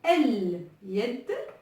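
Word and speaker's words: اليد: Et donc, ça se lit El-Yet. Et donc là, on voit bien que le lemme de l'article se prononce.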